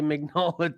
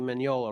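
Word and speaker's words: Mignola: and the svich because I used to say magnola too but I can't remember when that change happened for me but now I say it properly Manola right Pat yes Manola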